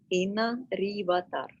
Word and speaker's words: Inna Rivatar: Salamon, Inna Rivatar.